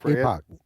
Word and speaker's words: Epoch: I guess that's how you pronounce it. Is it Epic or Epoch? Epoch.